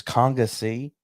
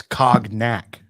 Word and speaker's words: cognac: are precious so so it's conga c that's how you spell it what conga c the word conga with a c at the end no it's cognac oh god this is